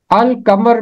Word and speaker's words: القمر: ہیں جو شمسی ہیں۔ القمر میں لام کی آواز خاموش نہیں رہتی، لام کی آواز پڑھی جاتی ہے، اس لیے ایسے تمام